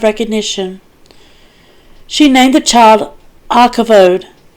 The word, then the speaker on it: Ichabod: She named the child Ichabod. That's I-Khavod. And it's spelled like, right here it says Ichabod without glory. It's spelled like Ichabod from the Legend of Sleepy Hollow, Ichabod, saying, "The glory departed